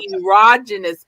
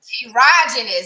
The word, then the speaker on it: Erogenous: So ERO is Eros. It's part of Eros. So Erogenous Coach. Erogenous.